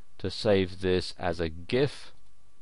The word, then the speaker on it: GIF: setting in Photoshop to save this as a GIF. GIF or GIF as some people pronounce it.